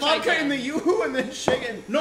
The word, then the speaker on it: Yoo-hoo: As my mother calls it Yoho. I hope she's watching. It's Yoo-hoo, Mom.